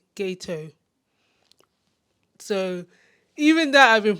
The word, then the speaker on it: Geto: Even the way I've been saying Suguru Geto, I've been saying Geto, but I think it's actually pronounced Geto. When I listened back again to the English dub, they were saying Geto.